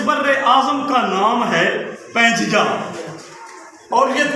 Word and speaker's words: Pangea: اس کے معنی ہیں۔ پینگیا، ہم تو اس کو پینگیا پڑھیں گے، اور گوگل نے جو اس کا تلفظ ادا کیا ہے وہ پینگی کیا ہے، پانجیا اور پنجیا۔ امید ہے یہ لفظ